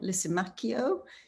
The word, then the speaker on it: Lisimachio: new york and we have the lovely laurent lisimacchio did i pronounce that right lauren you did louisa thank